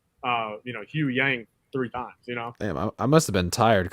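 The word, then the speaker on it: Huyang: the live action show said uh you know Hugh Yang three times you know damn I must have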